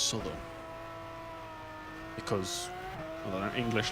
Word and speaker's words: Southwell: That's how it's spelled, but it's pronounced Southwell.